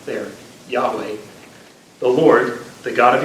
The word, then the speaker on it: Yahweh: be in the consonants we're not sure how the vowels were pronounced but Yahweh is the is a guess that we have for how it would have been pronounced so people thought well